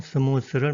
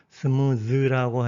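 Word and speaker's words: smooth: 우리는 보통 스무스를 많이 쓰는 것 같습니다. 제 생각에 그 기원은 일본 사람들 발음인 것 같습니다. 스무스. 일본 사람들이 그렇게 썼습니다. 그러나 그들도 지금은 스무스라고 하지 않습니다. 스무즈라고 해서 바꿨습니다. 영어 원어 발음을 존중하는 것 같습니다. 우리도 변화가 있어야 되겠습니다.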